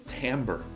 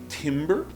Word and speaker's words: timbre: É timbre. Eu não sabia, eu aprendi hoje. Eu sempre pensei que era timbre, ou talvez até pronunciado em francês, né?